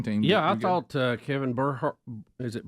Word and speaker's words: Burkhardt: Yeah, I thought Kevin Burkhardt. Is it Burkhardt?